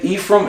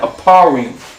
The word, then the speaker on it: Ephraim: If a brother or sister can only say Ephraim, if that's all they know, no sweat. If they understand Aparim, no sweat. Or as Cat Mouse might pronounce it, Aparayim.